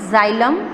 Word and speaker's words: xylem: Remember its pronunciation, it is xylem and phloem.